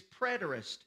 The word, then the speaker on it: preterist: it's not the same write this down it's preterist interpretation i'm going to spell it for you p-r-e-t-e-r-i-s-t preterist interpretation now let